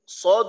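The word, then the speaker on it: ص: তো যখন আমরা সদ উচ্চারণ করব, তখন জিহ্বার আগাটা সামনের নিচের 2 দাঁতের আগার সাথে লাগবে। উচ্চারণটা এমন হবে সদ, এটা হলো নাম, আর উচ্চারণটা হবে স, সি, সু।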